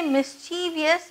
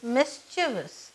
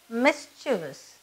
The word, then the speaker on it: mischievous: very mischievous during his childhood don't ever say mischievous it is mischievous okay it's pronounced as mischievous I know her from her childhood I know